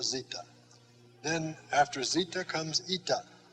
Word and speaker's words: eta: then after zeta comes ita just like our english n come down a little bit below the line and that is a long e sound e e as in feet just like in english